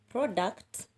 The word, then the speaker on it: product: in nouns and adjectives if it is a two syllable word you will stress the first syllable for example a word like product is a noun so you